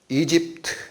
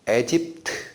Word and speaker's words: 이집트: 그래가지고 옷도 좋은 거 입히고 하니까 시기해서 이 사랑의 질투가 생겨가지고 이 야곱을 애굽, 여기 이집트 이렇게도 읽고 에집트 이렇게도 읽습니다. 그래서 트 발음 빼면 애굽이에요.